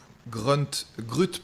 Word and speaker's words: Grut: Grut Brushes. C'est G-R-U-T Brushes, comme ça se prononce.